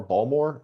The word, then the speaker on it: Baltimore: a big question though do you pronounce baltimore balmore and are you a ravens fan uh i'm not a ravens fan i'm actually a broncos fan but uh if you live in baltimore yeah you pronounce it that way balmor or whatever the [